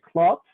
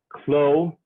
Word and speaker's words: Clot: this man antoine barthelme clots sorry khloe in egypt they pronounce the last name with the t in french it's not pronounced with the t so he's khloe in france and klotz in egypt um and he winds